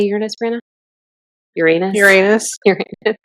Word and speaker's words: Uranus: Uranus. Uranus. Uranus. Emphasis on the anus enters into Gemini.